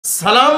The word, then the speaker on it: সালাম: আসসালামু আলাইকুম ওয়ারাহমাতুল্লাহি ওয়াবারাকাতুহ শিখবো তো ইনশাল্লাহ আপনি যদি সালাম শব্দ না বলেন সালাম মানে শান্তি নিরাপত্তা যদি সাম বলেন সাম মানে হল মৃত্যু বুখারী শরীফের হাদিসের মধ্যে